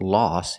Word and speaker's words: loss: Lose is the action and loss is the noun. Remember the pronunciation, aw, loss.